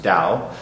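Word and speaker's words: 道: or cloth clothing and the doe part is the same dough in Chinese it's pronounced Dao and in the name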